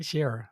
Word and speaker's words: Sherra: Now apparently, it looks like even though Sherra, see I said it right, Sherra, right?